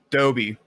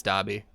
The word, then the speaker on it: Dobby: number one visited harry salton salty was first dobie i can't take that i'm sorry that's wrong